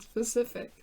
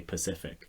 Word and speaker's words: specific: How many times do you think we can use the word specific? I just need to make sure I know how to say it, because a lot of times I say Pacific.